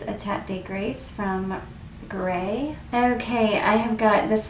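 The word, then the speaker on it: Grès: a tat de grace from gra gray i think it's you pronounce it gray this is a beautiful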